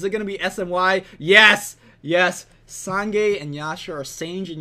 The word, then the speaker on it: Sange: Sange and Yasha, or Sange and Yasha, depending what pronunciation you're going for. I personally call it Sange because of the 6 Sange build.